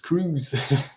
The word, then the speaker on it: Croes: it's just because um many many uh native English speakers would um pronounce my last name as as as Crow so so mostly on the stream I have to say like no it's it's Cruz yeah yeah so yeah